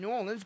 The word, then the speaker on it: New Orleans: new orleans is and that's correct way of saying new orleans but if you're rest around there people start to tell you at the wild like you don't say it right you say nylons and